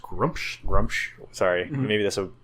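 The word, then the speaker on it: Gruumsh: bad is because they have a god called Grumsh, and it's pronounced Grumsh.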